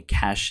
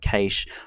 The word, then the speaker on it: cache: of Australian and British, and you'll find I pronounce words slightly differently. Sometimes I might say cash instead of cache, or I might say router instead of router.